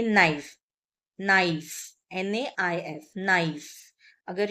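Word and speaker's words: naïf: तो ट्रेमा है इसीलिए नाइफ, नाइफ, नाइफ मतलब इंग्लिश में भी नाइफ बोलते हैं, इसका मीनिंग रहता है इनोसेंट। ओके, सो ये ट्रेमा यूज किया जाता है दोनों वॉवेल्स का साउंड प्रोनाउंस हम करें इसीलिए।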